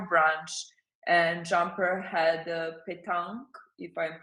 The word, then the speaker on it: Pétanque: So we did a couple of interviews there, and then we had your branch, and Jumper had a petanque, if I'm pronouncing it Yes, right, yes, Pétanque.